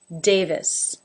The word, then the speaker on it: Davis: that than a mmm Davis that has the a as in say Dave this with a schwa in the second syllable Davis Miller the first